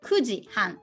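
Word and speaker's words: 九時半: in japanese we say nine o'clock plus half so kudzi han that would be 9 30 half past night well i made this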